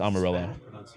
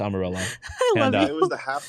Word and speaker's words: Amarillo: was it oh it's Amarillo it is the Spanish pronunciation but yeah it's Amarillo Spanish pronunciation Amarillo by